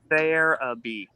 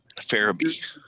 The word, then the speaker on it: Farabee: Oh, he pronounces his name Daniel Farabee. Farabee.